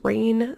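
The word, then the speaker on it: Reyn: women's but definitely men's it is rain Spooner and that is spelled r-e-y-n now this was a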